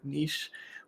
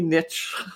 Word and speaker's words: niche: we say the word niche, we're Canadians and that's how we say it. We don't say niche, which is what the Americans say.